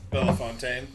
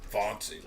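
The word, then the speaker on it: Bellefontaine: location Fountain Bell Fountain Bella Fontaine that's the way you pronounce it he was saying fonty like Okay so I didn't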